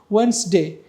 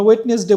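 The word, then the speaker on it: Wednesday: কিছু word silent থাকে যেমন আমরা বলি ওয়েনসডে সেখানে কিন্তু ওয়েটনেস ডে লেখা বাট আমরা এখানে কি বলি ওয়েনসডে বলি আমরা ওয়েটনেস ডে বলি না যারা ওয়েটনেস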